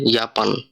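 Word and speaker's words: Japan: তো যে যেখানে আসে উচ্চারণটা হবে ইউ এর মতো, তাই এখানে জাপানকে বলা হইতেছে ইয়াপান।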